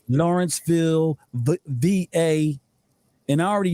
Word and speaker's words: Lawrenceville: i see it right you said it right lawrenceville the va and i already know how it